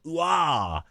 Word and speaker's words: Huard: I'm like, how do you say this name? She's like, it's Uah.